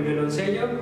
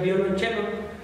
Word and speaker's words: violonchelo: Quizá muchos de ustedes lo conocen por el violoncello debido al juego de la lotería, pero se pronuncia violonchelo, puesto que es una palabra de origen italiano.